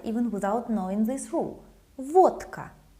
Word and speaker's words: водка: Водка. Vodka. Again, the voiceless K makes letter D sound voiceless, like T.